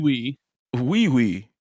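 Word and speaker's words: Ui Ui: Wee wee.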